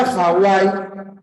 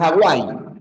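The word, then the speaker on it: Hawái: nombre ya castellanizado Hawaii Recuerda que la b o la W conand esa suena como una u por lo tanto si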